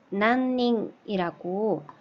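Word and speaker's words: 何人: 몇 명이라고 할 때는 난닝이라고 읽으시면 되고요.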